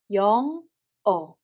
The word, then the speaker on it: 영어: For example, 영어. First syllable has a 여 sound vowel and sound Batchim, so we read it as 영. And the second syllable, there is a circle which has no sound value and there is a sound vowel, so we read it as 어. So together we read it as 영어.